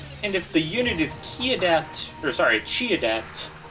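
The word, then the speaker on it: Qi Adept: And if the unit is Chi Adept is how it's pronounced.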